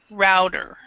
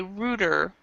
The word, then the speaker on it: router: actually pronounce it a router router Router now there are some pronunciation that people will say Rudder but I believe in both British and American English we pronounce this a router in this there are